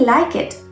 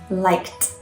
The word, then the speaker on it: liked: the past of like liked liked with a t so how many people